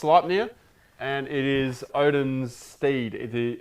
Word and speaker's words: Sleipnir: i guess he's talking about mine uh it's pronounced sleipnir and it is odin's steed um it's norse